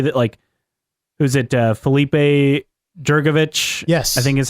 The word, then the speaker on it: Drugovich: Felipe Jurgovich? Yes. I think is how you say his name. Yeah, F2, Drugovich.